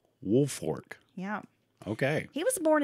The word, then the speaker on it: Woolfolk: go okay Thomas G woolfork now it looks like it's spelled wolf Folk but I've read it's woolfork wolf Fork yeah okay he was